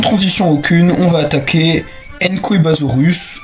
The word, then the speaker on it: Nqwebasaurus: Et donc, sans transition aucune, on va attaquer Enkoibasaurus. Son nom est tellement bizarre que je vous l'écris parce que entre comment ça s'écrit et comment ça se prononce, il y a un énorme fossé.